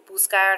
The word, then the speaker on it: buscar: Remember that buscar has a hard C sound, but if you put it next to an E, it would have a soft C sound.